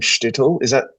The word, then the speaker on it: shtetl: Can you help me out with the pronunciation of shtetl? Have I said it correctly? Shtetl is a word meaning small town. Yeah, it's got the E missing in it.